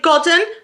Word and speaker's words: Godden: We've got The Great Godden.